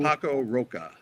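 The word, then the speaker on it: Paco Roca: Paco Roa P A C O R O C A E.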